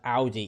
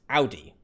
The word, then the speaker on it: Audi: Tikan pronounced Audi, because in the English-speaking world, the German car brand Audi is it's pronounced that way. A-U-D-I is Audi.